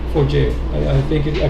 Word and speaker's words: Forgejo: So it's for jail for jail.